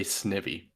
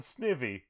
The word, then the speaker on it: Snivy: you know snivy yeah i have heard so many people say snivy and i want to strangle them hold on hold on hold on snivy or snivy okay apparently people call we'll call them snivvy yeah yeah that pissed